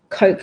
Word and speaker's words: Koch: Coke like the pop. Okay, Coke like soda.